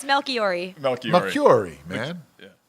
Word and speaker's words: Melchiorri: I said it's Melchiorri. Melchiorri, man. Yeah. Pronounce it for us, Anthony. So how are you saying it? I was saying Melchiorri.